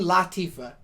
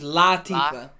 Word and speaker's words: Latifah: And I found out through that documentary, her name is Queen Latifah. It's not Really? La, it's Latifah.